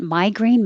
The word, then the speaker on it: migraine: I changed the I in the real spelling of migraine to a Y to remind you that it sounds like my and not me.